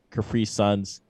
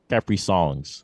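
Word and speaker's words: Caprisongs: But FK Twigs back again for another solid project, Capri Suns. And one of the songs I just Capri Suns. Capri Suns. Said it wrong. Capri Songs. There you go.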